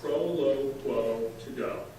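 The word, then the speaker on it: Proloquo2Go: First of all, pronounce this for me. Sure. It's called Proloquo to go.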